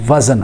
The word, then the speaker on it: وزن: اصلاح کرنی ہے، وزن۔ اکثر ہم کہتے ہیں وزن، یہ لفظ وزن غلط ہے، یعنی زال کے اوپر زبر پڑنا غلط ہے، بلکہ یہ صحیح تلفظ ہے کہ زال کے سکون کے ساتھ وزن ہے، اور قرآن مجید میں یہ لفظ آیا والوزن یومئذ الحق، لہذا اس کو وزن پڑھنا چاہیے، وزن نہیں پڑھنا چاہیے۔ نمبر 2، اکثر لوگ